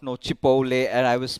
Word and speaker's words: Chipotle: The other day I did not know Chipotle and I was pronouncing it as Chipotle.